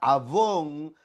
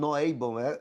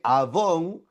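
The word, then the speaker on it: עָוֹן: Y la palabra avón, no Avon, sí, avón, se escribe igual, pero es algo diferente.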